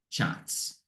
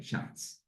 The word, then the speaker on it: Schatz: But he pronounces it Schatz. So it's a long, whatever that is with the A, Schatz, instead of Schatz.